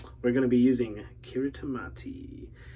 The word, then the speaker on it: Kiritimati: going to be using Kiritimati, or Kiritimate, but Kiritimati, I'm pretty sure that's what Doug said.